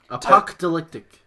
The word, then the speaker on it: apocalyptic: right what it say you're saying apoc apocalyptic you're adding an extra tee yeah you're adding it